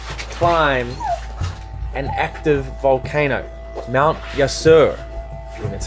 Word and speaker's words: Yasur: up there to climb an active volcano Mount yasur that's how you pronounce it there's literal lava with liquid hot